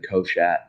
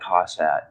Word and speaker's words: Koshat: my i would love your last name koshat yeah you'd probably have fun with it that's amazing it is not cossat i don't want to